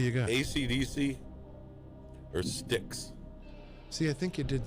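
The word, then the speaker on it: Styx: know wrote the year son you might know sticks or what ac/dc damn I'm just like thinking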